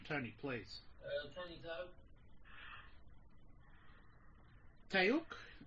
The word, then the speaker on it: Toke: Tayouk is how you pronounce it? Yeah. Toke. Toke. Toke. Yeah. Like T-O-K-E.